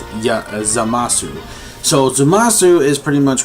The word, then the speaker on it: Zamasu: Finally meeting this actual Supreme Kai of Universe 10 named Zanisha, I think his name is. Wow, I pronounced it wrong, I apologize. It's ZAMASU.